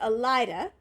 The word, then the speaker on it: Elaida: That's how you Elida? pronounce it.